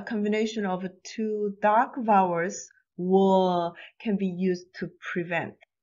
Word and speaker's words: ㅘ: Wa. It starts with O and ends with A.